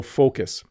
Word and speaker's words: focus: And then can you pronounce focus correctly? Because I see lots of sound like the F word, I'm going to call it. So focus.